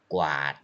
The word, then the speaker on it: กวาด: you say กวาด yes กอไก่วอแหวน you pronounce together กอ and วอกอไก่ and วอแหวน you pronounce together กวาด okay กวาด example กวาดพื้น sweep